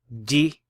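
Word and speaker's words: جِ: So how would you pronounce this? You would say kha, ji, kha.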